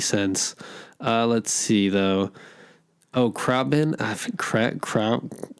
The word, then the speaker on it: Khruangbin: Oh, Krabin. Kronbin. I can't pronounce it. It's KHRUANGBIN. Like Kronbin.